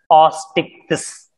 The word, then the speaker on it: Osteichthyes: The third one is osteichthyes. You have to pronounce it as osteichthyes.